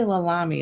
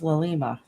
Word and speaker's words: Lalima: I say Lalami, it's Lalima. I say it wrong every damn time.